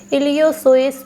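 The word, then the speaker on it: Iliopsoas: इलियोसोएस पेशी। इलियोसोएस पेशी, इंग्लिश में भी इसका नाम लिख लेंगे इलियो, पी साइलेंट रहेगा, सोएलिस मसल।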